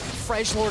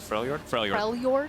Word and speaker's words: Freljord: ultimate, that I can survive the Trundle Volibear Freljord assault. Is that how you say it? Freljord? Yeah, F-R-E. It's pronounced L.